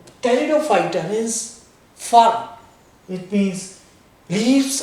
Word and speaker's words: pteridophyta: must remember in the pteridophyta, P is silent. Pteridophyta means firm.